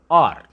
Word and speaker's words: hour: The initial H is silent. For example, HOUR.